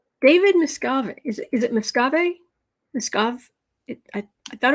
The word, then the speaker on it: Miscavige: Kind of like Miss Cabbage. Like you get a cabbage, you put eyes and, cute little M&M girl boots on it. Miscavige. Rhymes with cabbage.